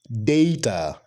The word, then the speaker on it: data: The correct pronunciation is data. Data, not data, data.